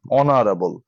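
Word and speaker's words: honorable: হচ্ছে এন বসেছে কারণ হচ্ছে স্বরে অস্বরের মতন উচ্চারণ অনারাবল তার জন্য তোমাকে বসাচ্ছে বসাতে হয়েছে অ্যান অনারেবল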